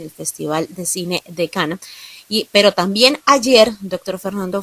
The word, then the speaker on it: Cannes: Doctor Fernando, pues hoy seguimos hablando del Festival de Cannes, el Festival de Cine o de Cannes, como se debería pronunciar.